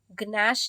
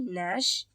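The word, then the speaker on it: gnash: रहा है ठीक है एन से पहले हमको के दिख रहा है या जी दिख रहा है तो हम उसको नहीं प्रोनाउंस करेंगे ठीक है हम ऐसा मान के चलेंगे कि यह है ही नहीं ठीक है तो यह नी हो जाएगा यह नॉक हो जाएगा यह नश हो जाएगा ठीक है गश नहीं नश और यह नॉक ठीक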